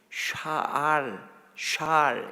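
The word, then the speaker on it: שָׁאַל: 우리 번역에는 여호수아가 요구한 성읍, 그 요구하다라고 하는 말이 히브리 말로 샬 이렇게 발음해요.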